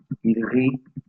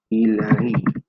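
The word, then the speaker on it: rient: Nous rions, rions, vous riez, il rit. ENT is silent.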